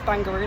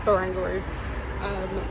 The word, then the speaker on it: Barangaroo: In my head, I was reading it as Bangaroo, like kangaroo, but no, I think it's Barangaroo.